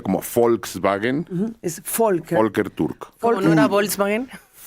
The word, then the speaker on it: Türk: La la V en alemán se pronuncia como Volkswagen. Es folker. Folker Turk, no era Volkswagen.